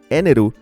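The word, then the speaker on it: Enel: de esa fruta y su nombre pronunciado en japonés eneru es un juego de palab palas de Energy energía en español es posible que por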